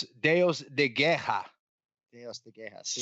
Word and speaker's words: Deus de Guerra: Deus de Guerra, God of War. Is that right? Deus de Guerra. Deus de Guerra. See? Spell it.